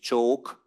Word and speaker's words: CSOK: Family housing allowance, the so-called CSOK. This is how we call it in Hungarian, but there is always a joke because if we pronounce it choke, it means kiss.